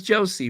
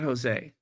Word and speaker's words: Josie: been mispronouncing your name so it's Josie right not Jose well anyway yes we